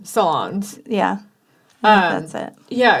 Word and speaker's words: Solondz: Solondz.